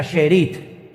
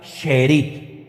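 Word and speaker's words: שארית: Miren, la palabra remanente en hebreo es una palabra que se pronuncia sherit. Vamos a ver, esa es la palabra en hebreo. Esa palabra se pronuncia sherit.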